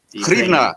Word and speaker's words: Hryvnia: The Hryvnia. Hryvnia is how we say it.